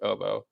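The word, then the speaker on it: hautbois: is spelled i mean still pronounced oboe but it's spelled h-a-u-t-b-o-i-s um or like uh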